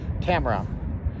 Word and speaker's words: Tamara: the channel named uh Tamara it's like camera but it's spelled Tamara t- M A R A okay now she's been